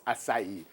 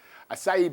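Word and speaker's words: açaí: did I told her I'll cry but it's acai acai balls look like ice cream almost tastes like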